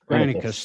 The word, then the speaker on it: Granicus: Granicus? Granicus, thank you.